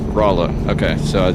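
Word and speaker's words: Rolla: So Delta's saying locally it's pronounced Rola.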